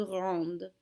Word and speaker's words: rendent: sound the exact same because we never pronounce our ENTs on the ends of verbs. ENT is a silent ending, and S is not a careful letter, so we don't say it.